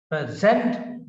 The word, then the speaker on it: present: is used as verb the accent is on the second syllable for example please present your case please present your case please present your case so the stress is on the sir present on your case please present your act